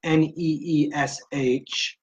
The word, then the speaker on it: niche: defining your target market or niche pronounced any Esh niche and why it's important